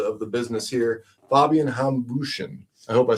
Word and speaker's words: Hambüchen: So, without further ado, we've got our friend of the of the business here, Fabian Hambüchen.